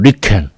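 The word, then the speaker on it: 理研: 자하고 연태만 따 가지고 일본식 발음하면 리켄 여기서 발견했어요 그니까 동양권에서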